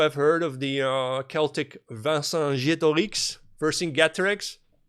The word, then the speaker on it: Vercingetorix: You may also have heard of the Celtic Vercingetorix, Vercingetorix. The way the French pronounce it is Vercingetorix.